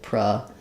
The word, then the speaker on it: produce: the stress goes so in produce the verb you'll see this line before the dece syllable which means it's going to sound like pruce the dece syllable is going to be the stress syllable it's going to be